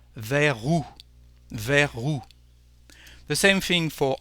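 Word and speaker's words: vers: towards is there but in French we don't pronounce the last letter the last consonant the S so the lion is with the letter r ver ver the same thing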